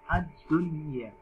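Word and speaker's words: الدُّنْيَا: Kemudian yang terakhir adalah ad-dunya, bukan ad-dunya, kan, tapi ad-dunya. Bacanya jelas. Nun sukun dibaca jelas, ya dibaca jelas.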